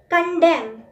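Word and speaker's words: condemn: कंडेम. कंडेम, इसमें एंड में जो एन होता है वो साइलेंट होता है।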